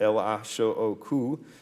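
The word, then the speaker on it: L.H.O.O.Q.: And it's called L-A-S-H-O-Q, letters of the alphabet pronounced in French, which pun and suggests she has a hot ass.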